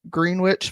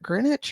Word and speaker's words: Greenwich: Crowley moved to gr green witch Village is that Greenwich or green witch Gren witch I think it's Greenwich but it's spelled green witch right and began dating